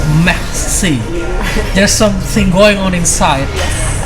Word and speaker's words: merci: It's not even mercy. It's merci.